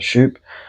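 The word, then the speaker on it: Schoupp: And Aaron Shop, 18th man or Shup, however you say it. I got grilled because I said it wrong the other week. Shup.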